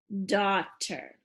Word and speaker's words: daughter: D, ah, silent, t, daughter. Now there's a lot of silent letters in there, so this word could be tricky.